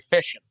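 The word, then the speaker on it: fission: that's something else nuclear fishing it's spelled uh Fox TR India Sierra Sierra India Oscar November like you're fishing okay so the current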